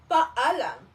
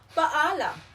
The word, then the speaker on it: paalam: again walang anuman great now let us learn how to say goodby paalam it means goodby the pronunciation of this is paalam repeat after me paalam again paalam very good in polite version paalam p me paalam po.